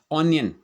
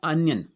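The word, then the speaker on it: onion: उसी प्रकार देखिए ऑनियन, हम क्या बोलते हैं इसको ऑनियन, जबकि ये होता क्या है अनियन।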